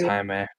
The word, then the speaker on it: Jaime: Tommy Yeah, it's Jaime. Hame?